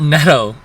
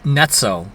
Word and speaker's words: Netto: But also the other thing I learned, it's not We learned you learned it's not Neto, it's Netto.